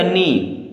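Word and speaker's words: knee: अंगूठा होता है हमारा के एन डबल ई के को साइलेंट कर देंगे तो ये क्या बचेगा नी क्या बचेगा नी डब्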